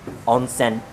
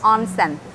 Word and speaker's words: onsen: do you pronounce it we say onsen in japanese onsen onsen that's how we